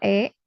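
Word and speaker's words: へ: Nah, ditulisnya itu he ya, ini huruf he hiragana ya, tapi dibacanya E ya.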